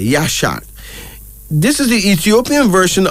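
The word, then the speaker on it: Yeshak: another middle name y-e-s h a k yashad this is the Ethiopian version of the Hebrew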